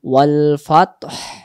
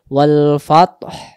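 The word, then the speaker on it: وَالْفَتْح: যদি কেউ আমরা বলি ওয়াল ফাত, জি। হায়ের উচ্চারণ আসে না, হায়ের জি। উচ্চারণ না ভেসে আসবে ওয়াল ফাতহ।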